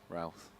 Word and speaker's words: Roth: I'm always pronouncing that wrong. Actually, is it Roth or Ralph? Ralph. I knew I'd said it wrong.